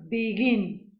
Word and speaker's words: begin: en la última sílaba, por ejemplo, begin. Begin tiene doble sílaba, pero el acento está en la segunda, ¿vale?